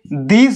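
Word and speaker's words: this: ওকে, দেখো আই এস আমি ইসি ধরলাম, এবার টি এইচ আই এস এটাকে দিস বলে উচ্চারণ করা হয়।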